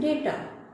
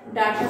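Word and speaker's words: data: For example car, father, arm, class and डेटा। कुछ लोग इसे डाटा प्रोनाउंस करते हैं लेकिन इसकी प्रोनाउंसिएशन जो सही प्रोनाउंसिएशन है वो है डेटा।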